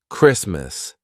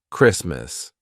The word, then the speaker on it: Christmas: right so for example Christmas the t is in between two consonants S and M Christmas we don't say Christmas